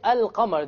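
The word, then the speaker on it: القمر: lam is silent, and the Arabic word for al-qamar, the lam is not silent.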